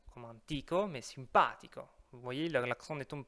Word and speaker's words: simpatico: C'est pas simpatico comme antico, mais simpatico. Vous voyez, l'accent ne tombe pas sur le i, comme on l'avait vu avant. Donc on obtient simpatico, simpatici.